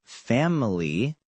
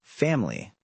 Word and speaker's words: family: Other examples are camera becoming camera and family becoming family.